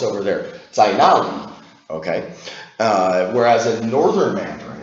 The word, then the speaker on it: 在哪里: This would be pronounced 在哪里？